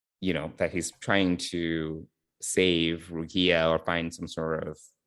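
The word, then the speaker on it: Rukiya: Mbenga and Rukia, right? That's how you say her name? Is that right? Right, Rukia, yeah.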